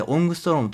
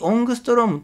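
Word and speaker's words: オングストローム: ストロングというこれ A になんか丸書いてオングストローンと読みますが 1 オングストロームという風に言いますこれは自由の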